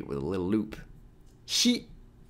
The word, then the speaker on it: ひ: Hi. It's the English pronoun he. That's very good. In other words, it sounds like he in heat.